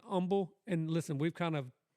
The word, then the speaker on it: Humble: hear someone say are you from Humble it's humble no that's like asking somebody if they from